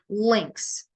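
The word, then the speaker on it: lynx: we'll go with these links l y n x kind of it spells it's spelled like the word links l-i-n-k-s that's how it's pronounced but how it's spelled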